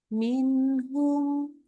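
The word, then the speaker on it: منهم: nah belum lulus minhumnya minhumnya juga sama gak boleh sampai ada ya minhum jangan minum Nah itu enggak bolehum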